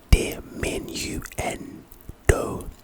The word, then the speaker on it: diminuendo: white boy Nigel anyway but pronunciation de Min n do it's a charm and